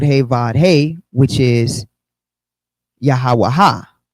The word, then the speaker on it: Yahawah: So in the Hebrew, it'd be Wah, doubling the final He or Ha pronunciation, the ending as Ha or Ah, right? Sometimes to emphasize each letter. So this yields the 4 syllables Yahawah.